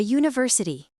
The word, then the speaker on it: university: A university. une université. A university. University commence par le son j, donc on utilise a.